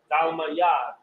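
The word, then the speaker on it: תלמיד: Where you have the tha and the la are joined together. So you have thal, and you have ma by itself, so it's pronounced by itself, ma. And then ya and da are connected, and because they're connected, it's pronounced yad.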